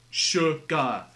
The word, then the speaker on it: sugar: yet you pronounce it sugar like there's an H in there somewhere like it would make